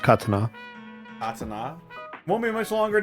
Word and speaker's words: katana: It's pronounced katana.